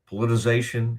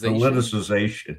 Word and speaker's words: politicization: Politization. How I'm I feel like I'm missing a syllable there. Politicism. No, the politization. Politicization.